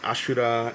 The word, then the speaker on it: Ashura: It's pronounced Ashura in Japanese.